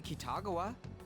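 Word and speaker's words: 喜多川: We're just gonna go talk to Kitagawa.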